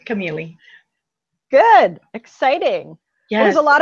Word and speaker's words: Camilli: it and they think Camille and um but it's Italian so it's got the I not the E so it's you you